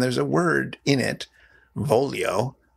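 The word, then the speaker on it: voglio: a word in it volio v-o-g-l-i-o which has that weird GL I sound and Bloom isn't quite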